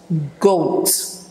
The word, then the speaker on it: goats: okay you have goat goats it's like goats the a is silent goats and chef chef